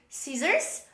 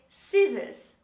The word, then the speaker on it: scissors: pronounce the letter r so in american pronunciation we say scissors but in british english we say scissors scissors in both cases the letter c is dropped in the pronunciation of these words the next letter letter